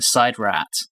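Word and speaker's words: SIDRAT: in the side rat i hate that pronunciation it's how it's pronounced apparently i got it wrong last episode i think it's just how that one guy pronounces it we're going back to sid rat i'm going back to sid rat fight me big finish come on i don't care sid rat sounds better i thought that was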